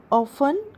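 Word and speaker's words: often: आई ऑफन go there. मैं वहां अक्सर जाता हूं। आई ऑफन go there. T would be silent here.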